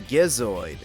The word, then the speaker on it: Gizoid: apparently known as a gizoid pronouncing it with a G because there's no way it sounds right with a J and the gizoid ends